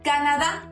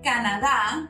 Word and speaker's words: Canadá: Canada, same as Mexico or Mexico, we spell it the same, but we pronounce it different. People from Canada or Canada are called canadiense.